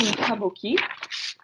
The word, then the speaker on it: Kabuki: uh after the class if you like so Kabuki the name Kabuki is from the word kabuku which means something